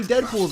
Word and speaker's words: Deadpool: Yeah, see, Deadpool's in this show. That's something. Double wedgie achievement unlocked. Dang, Skippy! Where are my manners? Introductions! Call me Deadpool. It rhymes with no school.